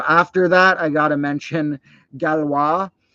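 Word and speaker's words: Galois: that I gotta mention galwa g-a-l-o-i-s however you want to pronounce it and uh that guy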